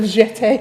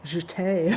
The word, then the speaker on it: jeté: Jesse says it's pronounced jeté. Jeté.